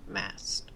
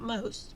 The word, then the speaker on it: Mast: called Mast m a mased okay not most but mased organic dark chocolate it's